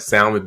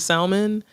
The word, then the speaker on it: salmon: Child, the L in the salmon is silent.